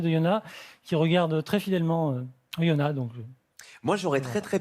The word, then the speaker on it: Oyonnax: retour à Oyonnax. On ne Merci.